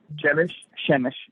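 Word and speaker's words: Przemyśl: Shemish, yeah.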